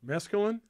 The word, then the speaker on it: mesclun: Mesclun?